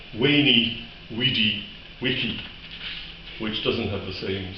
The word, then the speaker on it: Veni, vidi, vici: But the Romans didn't pronounce Latin the way we do. No, they were far, far different. What he would have actually said, if he'd been standing beside the great man at that time, he would have said, Veni, vidi, vici, which doesn't have the